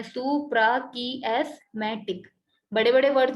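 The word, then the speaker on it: suprachiasmatic: ये इसका नाम प्रोनाउंस करने के लिए इसको तोड़कर लिखा हुआ है, अगर कोई ना समझ पाए तो इस तरह से इसको पढ़ सकते हैं, सुप्राकियास्मेटिक।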